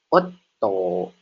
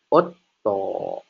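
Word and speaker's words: おっと: Nah, jadi dibacanya ditahan yaitu jadi Otto. Otto.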